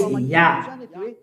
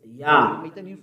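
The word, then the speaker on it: יה: His name is Yah. How to pronounce it? Yah. According to the Hebrew. When you see this word, it is read Yah in Hebrew.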